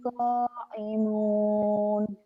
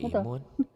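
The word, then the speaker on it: قائمون: walladzina hum bisyahadatihim qa'imun. Apa? Qa'imun. Betul. Toimun. Koimun. Kok. Nah, Kok. qa'imun. Kayak koimun. Tadi Qa'imun. kedengarannya kayak toimun ya. Kakak Qa'imun. bacanya pakai apa? Pakai to apa pakai kop?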